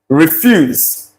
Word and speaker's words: refuse: Once again, S, not Z. This is refuse. Refuse. Okay, if you want to articulate these, maybe as waste, it's articulated or pronounced refuse.